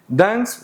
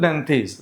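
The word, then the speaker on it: Dantès: النطقين صح، في ناس بتقول دانس وفي ناس بتقول دانتيز، النطقين صح.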